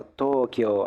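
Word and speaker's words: 東京: sería como en realidad a la hora de pronunciarlo sería como una doble o entonces Tokio Tokio Bueno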